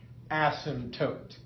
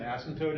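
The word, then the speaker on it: asymptote: well those are called ASM tootes and that is spelled a ym p t o t e ASM toote so if you were asked to list the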